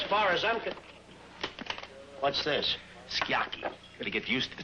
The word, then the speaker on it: sukiyaki: Skiaki, Henry. The U is silent. Not sukiyaki, skiaki.